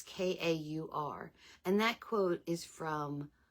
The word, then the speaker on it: Kaur: And that's by Rupi Kaur, I guess is how you say the last name. It's Kaur.